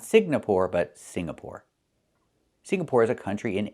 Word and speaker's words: Singapore: It's not Signapore. It's Singapore. The NG makes a sound M in your nose. Sing like when you sing a song together. Singapore. Not Singapore, but Singapore.